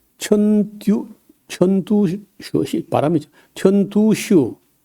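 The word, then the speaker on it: 陳獨秀: 그래서 어 중국의 오사 어 운동을 일으켰던 사람이 천 천듀 천두슈 바람이 천두슈 천두수는 이제 우리 한자로 우리 읽기로 하면요 진독수라 진독수 진독수를 이제 중국 이름은 중국 발음은 턴두슈 그다음에 노신이라는 사람인데 루신 그래요.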